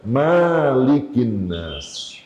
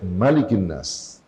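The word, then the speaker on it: مَلِكِ النَّاسِ: Bacanya bukan Malikinnas. Enggak boleh Malikinnas. Bacanya pendek, Malikinnas.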